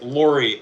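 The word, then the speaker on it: Lawrie: Uh, it is Lori. L A W R I E. It's spelled really weird because it's spelled after the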